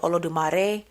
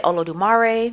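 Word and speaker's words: Olodumare: with what they practice the pronunciations of the name will vary like for example I think in Santaia they may say olo dumare just because you know Spanish I say oolare because you know country so it depends on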